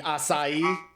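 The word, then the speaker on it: açaí: there I was like can I get the strawberry aai refresher he was like you mean assai assai you mean the assai this is why be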